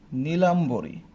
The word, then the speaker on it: নীলাম্বরী: আর বয়ের সাথে ইকার, তো দিগ্বি জয়, দিগ্বিজয়, উচ্চারণটা হবে এরকম। পরবর্তী আরেকটা এক্সাম্পল দেখি, আমি যদি বলি নীলাম্বরী, এটা অনেকটা ভুল হওয়ার মতো না, হ্যাঁ, কারণ